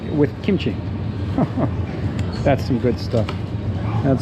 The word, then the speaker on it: kimchi: kimchi sorry I think I might pronounce it kimochi sometimes because that's the Japanese pronunciation kimochi kimochi I know it's supposed to be kimchi but I forget that that's how it's pronounced in English so you might often hear